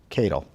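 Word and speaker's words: Katyal: activists Neil Keadle Cattell tape its k80 yal Keadle that's how I pronounce it he wants to talk to Rosenstein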